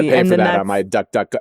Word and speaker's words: DuckDuckGo: I might duckduckgo. It's duckduckgo, by the way, not god duck go.